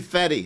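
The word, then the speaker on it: Fette: Margaret Fett, or it might be Fetty. It's spelled F-E-T-T-E.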